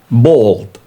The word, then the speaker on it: bald: Number 14, bald. Okay. For the word bald, uh there are uh two words similar, a little bit similar. Bald with uh the pronunciation of o bald it means hairless.